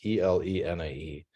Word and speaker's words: Elenae: And so about 2 years ago, I spun out this company called Elenae Therapeutics, E-L-E-N-A-E. So E-L-E-N-A-E, you pronounce it Elenae because it's the acronym for locked nucleic acid antisense, so LNA.